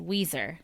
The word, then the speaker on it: Weiser: Note, Weiser is spelt like Budweiser, but is pronounced Weiser.